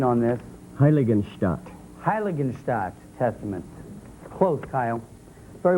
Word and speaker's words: Heiligenstadt: Helgenstedt. For 20 points, Plano, do you know the answer? The Helgenstedt. Say it again. Helgenstedt. I'm going to ask the judges to help me with pronunciation on this. Heiligenstadt.